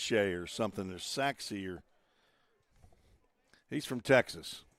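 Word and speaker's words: Sachse: It's not it's not pronounced like like it looks. S A C H S E S Sache or something or Saxer.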